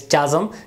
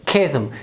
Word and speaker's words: chasm: Normally I have heard many people pronouncing this word as chasm. This is chasm. Exact correct pronunciation of this word is chasm, and chasm means a wide opening, a wide opening.